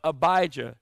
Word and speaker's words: Abijah: in the region of abijah it's pronounced like elijah and abijah means my